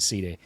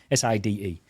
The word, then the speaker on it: Side: It's spelt Side, but I think they pronounce it Side. Side.